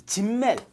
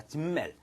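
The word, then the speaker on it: Simmel: 자, 여기에 대해서 자, 이 진멜 Z로 발음합니다. S가 아니라 진멜.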